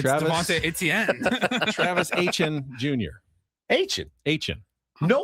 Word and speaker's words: Etienne: But obviously, it's more of a Southern pronunciation. Etienne. Travis Etienne Jr. Yeah. In the north, it's Etienne. But yeah, in the south, it's Etienne.